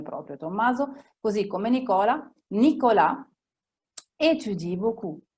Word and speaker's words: Nicolas étudie: Nicolas étudie beaucoup. La S non si collegherà con la E che sta subito dopo.